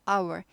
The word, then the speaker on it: hour: 보는 미닛 초는 시간은 our h가 묵음이에요 하워하지 않고 hour 사전에 보면 h는 발음하지 말아라라고 나온 건 묵음이라고 합니다 아예 발음이 안 되는